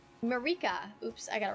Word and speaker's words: Marika: Wait, was that a Statue of America? Marika.